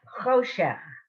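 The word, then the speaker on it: חושך: It's a huh, but how do you pronounce that word? He. Hishen. No. Good guess. Choshech.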